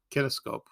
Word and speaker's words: kinescope: was repeated and it was on connect kinescope kinescope that's how you pronounce it that's where you take a camera